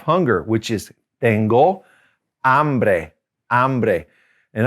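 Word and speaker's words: hambre: which is tengo ambre ambre and always make sure you pronounce that correctly h a because you don't want to mess up a little bit and say hombre which that ombre means man so tengo i am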